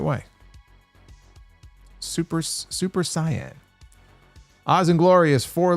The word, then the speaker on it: Saiyan: Retro KOH uh says you actually pronounced uh Saiyan correctly. The Japanese name is Saiyan-jin based on the Japanese word for vegetable. Hm. I thought that's what Vegeta was. The Western dub mispronounced it as Saiyan.